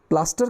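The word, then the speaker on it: plaster: उसको हिंदी में बोल हिंदी में हम प्लस्तर बोलते हैं लेकिन इंग्लिश में इसको प्लास्टर बोलते हैं रेलिंग क्या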